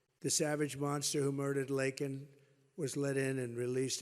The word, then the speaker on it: Laken: Right here in Georgia, our nation was robbed of a brilliant 22-year-old nursing student, Laken Riley.